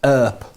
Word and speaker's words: ERP: see there but uh that abbreviation is pronounced in different ways by different people uh there's a cowboy called Wyatt her and therefore Erp e a r p is often called her uh it is also